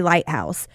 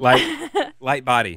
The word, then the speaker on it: Lightbody: So if you're wondering why Snow Patrol, why Gary Lighthouse, she told Lightbody.